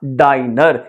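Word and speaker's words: diner: लेकिन यहां पर अगर सिंगल एन हो तो ये फिर क्या बन जाएगा, डाइनर।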